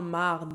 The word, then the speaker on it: marde: Notez qu'en québécois très familier, le E devant un R se change souvent en A. C'est pour ça que merde, ça devient souvent marde.